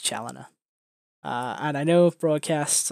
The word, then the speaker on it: Challiner: pronounce your last name my last name is pronounced challenger and i know if broadcasts are kind of